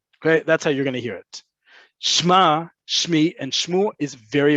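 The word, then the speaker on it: שמע: Shma, shmi, shmu. You might hear the ayin in these get pronounced even more to really emphasize that I want you to pay attention to me.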